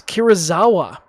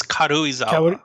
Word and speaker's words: Karuizawa: This is Kirizawa. Now, I think I'm pronouncing it right. Kirizawa. It's Karuizawa. Karuizawa? All right. Well, thank you for the clarification. I've been saying it wrong this entire time.